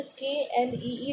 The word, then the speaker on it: knee: अगर हम नी अकेली लिखते तो उसका नहीं लिखेगा कि NEE लिखते, तो ये कोई मतलब ही नहीं, वो समझेगा ये क्या लिखे, नी क्या होता है। अगर KNEE लिखेंगे ना, तो जो वर्ड की प्रीशियसनेस होगी ना वो निखर के आएगी, प्रीशियसनेस। ओके, तो जो के है वो साइलेंट है, और के का होना